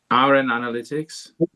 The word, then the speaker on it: RNAnalytics: Let's now invite Victoria, if I'm not mistaken, from RNAnalytics or RNA, I don't know how to pronounce that. Probably Victoria will help me to get this right. Is it RNAnalytics?